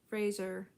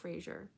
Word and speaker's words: Fraser: agree with that brennan fraser i believe his last name is pronounced fraser and not frasier i feel like i've